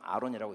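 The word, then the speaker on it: אהרן: 오르가 이제 빛인데 아론은 오르 안에 하나님의 호이 원래 정확히 히브리 발음으로 하면 아하론이거든요. 아하론 뭐 한글 성경 아론이라고 있는데 그 빛이 빛 진리 안에 하나님의 호흡이 확장된 상태가 아론이에요.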